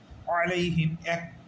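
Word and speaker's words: عَلَيْهِمْ: এটার নাম হচ্ছে লিন লিনের উচ্চারণ তাড়াতাড়ি করা লাগে ঠিক আছে আলাইহিম এটা আমরা আলাইহিম এরকম বলা যাবে না আলাইহিম দ্রুত বলতে হবে আলাইহিম ঠিক আছে তাইলে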